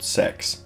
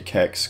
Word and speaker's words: CeX: is a place called Sex. Some people say it like CEX, other people like me say Kex, because there's no way I'm going around saying, yeah mate, I'm just going to Sex real quick.